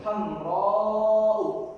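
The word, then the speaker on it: حمراء: Nah, alif di sini ada alif. Dia dipanjangkan. Mengapa? Kalau kita telisik lagi ke ilmu tajwid, ini mat wajib. Mat wajib muttasil. Nah, mat kan dipanjangkan, bacanya dipanjangkan. Hamra'u. Nah, itu maksudnya alif mamdudah. Dia alif hakikatnya, cuma karena hamzah setelahnya, jadi dia dipanjangkan cara baca.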